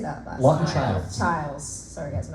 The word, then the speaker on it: Chiles: Childs.